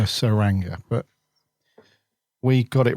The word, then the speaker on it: Tsuranga: man the saranga conundrum with a silent te with the silent T we were unsure on the T or the S weren't we yeah we weren't sure how to pronounce it were we what is it t Tang tangra yeah I didn't know if it was the turanga or the suranga but we got it